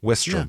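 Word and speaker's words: Wistrom: Whitstrom, I guess it is. I want to put an N in there.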